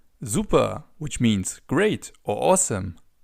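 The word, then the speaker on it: super: Another way to answer this question is by simply saying zupa. Zuper, which means great or awesome.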